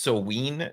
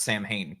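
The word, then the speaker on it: Samhain: my iPhone corrected me is pronounced so ween not Sam Hayne all right I would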